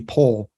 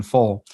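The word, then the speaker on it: Phol: it's Balder is because people have also pronounced it as just a P. So it would be pole rather than full. And that doesn't make sense to me, because if you pronounce it as pole, then there's no alliteration in the verse whatsoever, or that line whatsoever.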